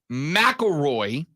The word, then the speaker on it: McIlroy: Rory McIlroy, that's the guy, that's the name. You got to pronounce it that way every single time now, right?